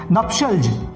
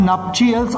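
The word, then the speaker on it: nuptials: एक और word guys यहाँ पे देखेंगे आप, नप्शल्ज। ये क्या पढ़ेंगे आप इसका प्रोनाउंसिएशन भी आपको ध्यान देना है। इट इज नॉट कॉल्ड नप्चियल्स और नप्टियल्स, इट इज कॉल्ड नप्शल्ज।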